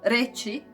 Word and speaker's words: reći: And č, it is softer, so reći, it is Croatian word to say, like č in the chew, but a little softer, so č.